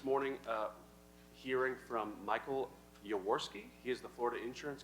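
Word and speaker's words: Yaworsky: We're pleased to start the meeting this morning uh hearing from Michael Yawski.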